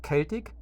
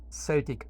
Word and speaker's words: Celtic: Wir wissen jetzt, dass es Celtic oder Celtic ausgesprochen wird.